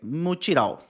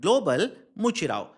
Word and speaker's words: Mutirão: COP30 global, right, Mutirão. And global Mutirão. Pronunciation, m u t i r a o. Global Mutirão. It's It's basically uh pronounced in a different way.